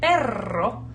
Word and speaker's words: perro: And you say perro, and I'm exaggerating, but your tongue is super, super, super involved.